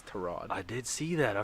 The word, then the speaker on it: Tyrod: Tyrod Taylor went abroad say his name right god damn it it's taraj I did see that